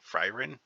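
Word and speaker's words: Faerûn: I'm not even sure I'm pronouncing Freerin right. This is how it's spelled. Freerin. That's what it looks like it's pronounced like to me. Fryrin?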